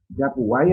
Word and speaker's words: Yapuguay: Lo voy a escribir en el chat para que se pronuncie esta palabra por ahí, porque se lee Yapuguay así como suena, ¿no?